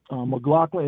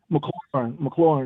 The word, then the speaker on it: McLaurin: Like, you know, I know Terry McLaughlin. Is that how you say it? McLaurin, excuse me.